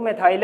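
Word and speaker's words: methyl: वैसे है क्या ये, इसका उच्चारण मिथाइल ही होता है। इसका उच्चारण क्या होता है? मिथाइल ही है ना।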